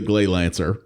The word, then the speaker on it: Gleylancer: games had engrish titles really should be grey lancer but they called it glay lancer and well that's the